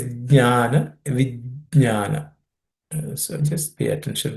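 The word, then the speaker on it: ज्ञान: Ideally, you should pronounce the J. Okay, it's Jnana, Vijnana.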